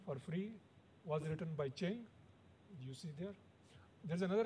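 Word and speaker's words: Qian: In China, Q is pronounced as C-H. So it's Q-I-A-N, but it's Chen.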